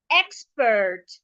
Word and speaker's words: expert: And because I'm stressing the e, it means that the e should be sounded as e. Expert expert.